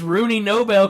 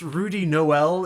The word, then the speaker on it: Rudy Noel: that's gotta be this Rooney Nobel character the boss told me to keep an eye out for. It's actually pronounced Rudy Noel, if you don't mind. You know, like a lazy Christmas reference?